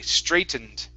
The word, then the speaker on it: straightened: for the tr here instead of stray it's str stray straightened straightened straightened okay that's a little